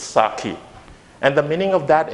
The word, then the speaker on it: sake: And I believe that you must have mispronounced this as sake. But it's not that, it's sake. Sake.